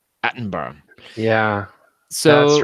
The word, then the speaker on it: Attenborough: I believe you're supposed to pronounce it Attenborough.